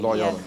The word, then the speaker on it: Loyola: Loyola, that's how you say it? Loyola.